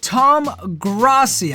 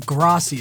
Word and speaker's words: Tom Grossi: we are checking out Tom Grassi I believe graci is how I was supposed to pronounce his name every NFL Fan's reaction